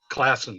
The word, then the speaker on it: Classen: Classen, yeah.